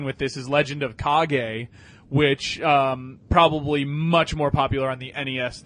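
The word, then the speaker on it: Kage: this is legend of cog a which probably much more popular on the NES than on an arcade but did you ever play legend of cog a it's mispronounced legend of cage K G yeah and you're basically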